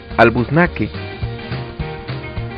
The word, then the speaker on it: albuznaque: Si fuera esdrújula, debería tener acento en la U, y si fuera aguda, debería tener acento en la E. Así solo puede pronunciarse como albuznaque. ¿Comprendes ahora la importancia del acento?